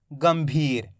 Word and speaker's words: गंभीर: तो यह रहा भा तो य पर अपन आधा मा का उच्चारण करेंगे कैसे गंभीर आया समझ में एक